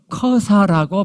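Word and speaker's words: Jerash: 발견되 있는데 거기가 보면은 영어로 허사라고 발음이 되는 지역이에요 근데 저 허사를 히브리어로 이게 보면 읽어 보면 거라사 매우 유사하게 들려요 그러니까 가다라는 마을 이름이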